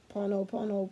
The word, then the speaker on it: Ho'oponopono: Ho'oponopono prayer. Yeah, I said it right.